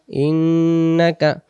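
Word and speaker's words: إِنَّكَ: ইন্নাকা হামিদুম মাজিদ ইন্নাকা ইন্নাকা নুনে তাজদিদ গুন্না করে পড়তে হবে ইন্নাকা হামি এমন হবে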